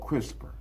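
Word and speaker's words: CRISPR: Pronounced crisper stand for clustered regularly interspace shorter palendroic repeat.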